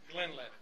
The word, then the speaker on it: Glenlivet: Now, the Glenlivet, it is pronounced the Glenlivet.